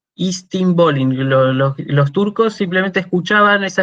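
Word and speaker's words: εἰς τὴν πόλιν: expresión griega que era istinpolin. Lo pronuncio con la pronunciación bizantina, porque de hecho los turcos toman la capital, Constantinopla, que era bizantina, griega medieval. Estambul viene de Istinbolin. Istinbolin.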